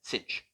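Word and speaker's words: sinh: we add kosh and cinch together so i just used an alternative pronunciation we can call this as we can call this guy kosh and we can call this cinch so that is just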